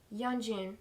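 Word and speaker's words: Yeonjun: Yanjun.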